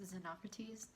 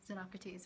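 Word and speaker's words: Xenocrates: here so uh basically i think the name is pronounced zenocrates so i'm sorry zenocrates for pronouncing your name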